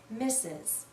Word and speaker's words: Mrs: mistress but we almost always read this as misses Ms is another title of respect we use